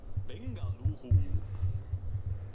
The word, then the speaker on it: Bengaluru: Bengaluru. Hey, that's how they say it.